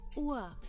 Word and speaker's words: Uhr: Wie viel Uhr ist es?